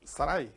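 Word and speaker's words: שרי: the letter yod three letters sharai but it's pronounced sarai princess as you see let the shin there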